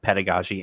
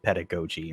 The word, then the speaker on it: pedagogy: point but yeah it looks like both pedagogy and pedagogy are accepted pronunciations double right nice yeah